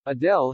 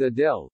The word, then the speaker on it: Adele: She pronounced my name perfectly, Adele enthused. Where's she from, Enfield or something? The fan seemed to say Adele's name in a North London accent, saying, Adele, instead of, Adele.